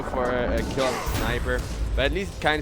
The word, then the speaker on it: Sniper: Now Snipper is the one. Sniper, not Snipper.